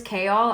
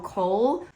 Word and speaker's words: Chaol: So his name is Chaol. I know a lot of people call him Cole.